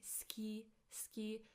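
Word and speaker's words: 好き: I know that we write but when we say it we say ski it's as if the u the disappears.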